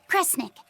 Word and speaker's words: Kresnik: If you read this part as Snira, then it means should do. But if it's a snick, then it means don't do. The other word attached to it is pronounced cre. Which of those first two readings feels right to you? Sound it out. Cre, Snira, Cre, Snick. Kresnik. Kresnik feels right somehow.